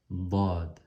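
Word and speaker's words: ض: Elle se colle sur ce côté, sur le côté de ces molaires. Soit droite ou soit gauche. Dad, dad, dad. Donc moi je suis habitué à prononcer du côté droit, dad, certaines personnes du côté gauche, mais il faut se pratiquer.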